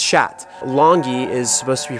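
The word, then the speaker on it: kyat: up until now the national currency is not pronounced kkeok the way it's spelt it's pronounced shat longi is supposed to be pronounced Longy which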